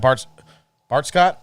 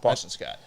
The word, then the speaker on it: Boston Scott: Miles Sanders gets hurt, you got Bart Scott? Boston Scott. What? Boston Scott. I knew I was saying it wrong.